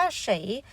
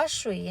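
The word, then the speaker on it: 谁: นะ คะ สุด ท้าย คำ ว่า เฉย หรือ คำ ว่า ฉุย นะ คะ ออก เสียง ได้ ทั้ง 2 แบบ นะ ลูก แปล ว่า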